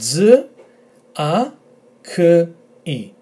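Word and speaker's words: τζάκι: So we've got z, a, k, I. Emphasis on this letter, zaki.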